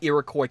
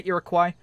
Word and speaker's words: Iroquois: people like to say Irakqua Irakqua Irakqua people are see that's it the there's two pronunciations for the Irakcoy the Irakqua French right it's a French word I don't honestly I